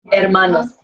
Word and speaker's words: hermanos: Tienen sus hermanos. H is silent.